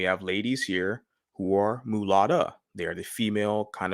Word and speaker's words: mulatta: a light-skinned mulatto girl now the correct right kind of pronunciation she'd say mulatta girl which we have in